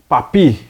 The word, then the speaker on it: Papus: ou mais conhecido como papi se escreve papos mas se fala pap janelle nasceu em 1865